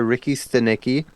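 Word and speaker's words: Ricky Stanicky: uh I watched uh Ricky steni uh oh you said it right this time I did yeah all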